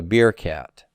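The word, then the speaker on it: בִּרְכַּת: to form beer cot i always think of a beer cat like a cat that drinks beer beer cat so birkat moshe is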